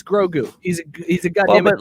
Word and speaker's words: Grogu: Drew, Grogu.